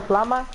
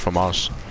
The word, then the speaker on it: FAMAS: You know what's a flama? Yeah. FAMAS. Yeah. It's FAMAS. Oh. The FAMAS, it's pronounced FAMAS.